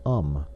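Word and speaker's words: homme: a piece of bark he learned from darno that it was pronounced um and in the same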